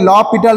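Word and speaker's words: L'Hôpital: Next তোমাদের পড়তে হবে কার্টেসিয়ান কোঅর্ডিনেটসের পোর্শনটা এবং হচ্ছে ল পিটাল রুল বা এল হসপিটাল রুল, অনেকে উচ্চারণ করে কিন্তু এটা হচ্ছে এল ল পিটাল রুল।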